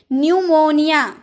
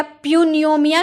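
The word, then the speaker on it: pneumonia: जैसे पी एन ई यू एम ओ एन आई ए न्यूमोनिया। आप क्या प्यूनियोमिया कहते हैं? प्यूनमिया नहीं न्यूमोनिया यानी कि निमोनिया जो बीमारी होता है ना उसे हम कहते हैं तो इसे हम निमोनिया कहते हैं। पूनोमिया नहीं कहते प साइलेंट होता है।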